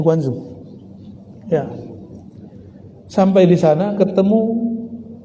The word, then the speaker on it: Guangzhou: Benar bacanya Guangzhou.